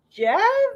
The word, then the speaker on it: Geoff: And they're like, Jeff?